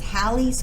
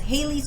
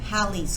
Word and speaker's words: Halley: talking about comments oh some people also pronounce this as halley's comet you'll hear it in both ways when i was a kid we opt it was referred to as hayley's comment and then the